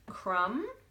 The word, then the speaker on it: crumb: we can hear it crumb can't hear that be but then I say crumble and I can hear it again design don't hear that